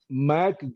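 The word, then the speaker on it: Mc: name the book again mack please i am spelling it out you write capital m is small c that is pronounced as mac so do not write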